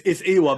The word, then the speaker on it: AEWAR: Well, it is actually AEWAR. No one can pronounce it. They're always like AEWAR. I pride myself on enunciation. How dare you? But it's AEWAR. Basically, it's a silent A, and it's just a